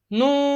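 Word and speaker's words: ن: This letter is pronounced from the tip of tongue. From the tip of tongue touching the gums of top four teeth.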